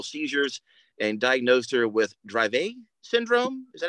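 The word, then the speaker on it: Dravet syndrome: Grace for uncontrollable seizures and diagnosed her with drive a syndrome is that how you say it yes drave syndrome well welcome uh Tracy and it's an honor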